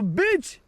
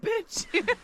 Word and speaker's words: beach: Third of all, we have the beach. The beach! We have the beach here. The bitch.